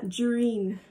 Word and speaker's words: Jahrine: Yeah, Jareen was the the pronunciation. It's a Canadian thing, I think.